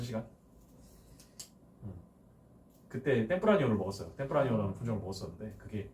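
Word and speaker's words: Tempranillo: 거기 바로 밑에 보면 템프라니오 있죠. 그 LL이 Y예요. Y. 스페인어에서 발음이. 그래서 템프라니오라고 했습니다.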